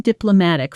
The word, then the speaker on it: diplomatic: Notice the pronunciation. Diplo mm matic. The stress is on the third syllable. Matt.